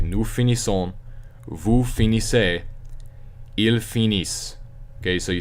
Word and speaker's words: finissent: Okay, nous finissons, vous finissez, ils finissent. Okay, so you say finis this time because you remember you don't pronounce the ENT.